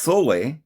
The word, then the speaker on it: sol: of salt, solution, is sometimes called sol, pronounced sole, with a spiritual connection made to liquid sunlight in some contexts.